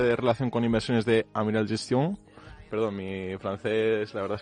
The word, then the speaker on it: Amiral Gestion: Pablo Martínez Bernal es, como todos ustedes saben, es el director de relación con inversores de Amiral Gestión, o Amiral Gestion, mejor dicho, ¿no?